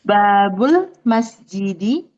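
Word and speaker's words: باب المسجد: Digabung bacanya gimana? Oh, heeh. Babul masjidi. Nah, jadinya babul.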